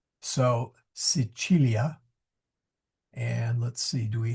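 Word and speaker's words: Sicilia: Uh the C here is a ch sound.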